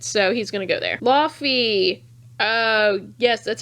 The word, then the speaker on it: Laufey: still really good so he's gonna go there Laufey yes that's how you pronounce his name the frost giant piece from